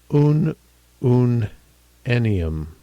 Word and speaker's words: ununennium: So looking in this little column here which is kind of a summary column pronunciation will be oon oon ennium.